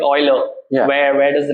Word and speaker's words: Euler: little difficult to pronounce yeah but the actual pronunciation is yeah yeah so people do call it I mean Euler is the right name we named it after